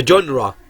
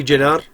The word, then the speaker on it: genre: The genre، طبعا هي لفظة ما هي جنر مثل في بعض الناس بتلفظها خطأ جنر، لا هي genre.